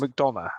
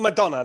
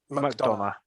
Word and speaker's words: McDonough: JD McDonough, I believe it is. McDonough. Okay, let's go with that then. Not Madonna, like Vogue. McDonough.